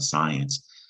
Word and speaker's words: science: The I making a long I sound, science.